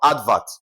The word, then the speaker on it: advert: Advert, okay? Now, how do you stress advert, okay? Advert could also be a noun, okay? Now, the stress is placed on the what now? On the first syllable, ad.